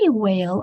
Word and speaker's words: whale: have said it correctly so wh is a diagraph two letters that makes one sound and you might be surprised what sound it makes there's actually no sound at all it's only air it's only blowing so the sound for wh is it's like you're blowing out some birthday candles make sure you blow it and so when you say Quil then you'll hear that there's not whale we say whale a lot just because